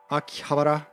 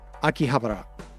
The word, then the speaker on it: Akihabara: say it akih habar Akihabara is like the Japanese official pronunciation trademark copyright Akihabara but Akihabara is how people hear it that aren't Japanese so I try to